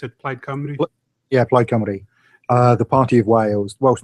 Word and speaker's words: Plaid Cymru: Plaid, or is that how you pronounce it? Plaid Cymru? Yeah, Plaid Cymru.